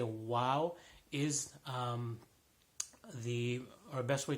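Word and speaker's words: و: the Wow properly so wow it has a sound like a W in English and not AV sounds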